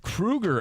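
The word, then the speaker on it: Kroeger: Um Chad Krueger is spelled Kroger, but he's like, "No, I mean, it's it's Krueger."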